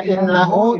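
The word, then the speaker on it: إِنَّهُ: Ya, kemudian ada innahu itu gunnah. Innahu nunnya ditahan karena gunnah. Innahu.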